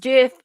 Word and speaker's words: GIF: Intended it to be pronounced GIF.